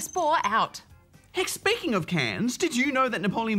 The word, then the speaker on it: Cairns: Spore, who is in Cairns, Queensland. Do you think Cairns is full of cans and that's why they called it Cairns? No, it's spelled Cairns. Cans. Cans. Cans. Cans. This just sounds like cans.